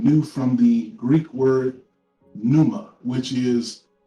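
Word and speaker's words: pneuma: adopted the word new from the greek word numa which is p n e u m a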